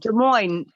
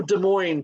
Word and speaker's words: Des Moines: And Des Moines, S is silent. oh, Des Moines, just like Illinois.